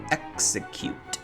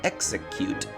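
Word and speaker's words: Exeggcute: sort of cute but the whole word execute sounds like the word execute which means to kill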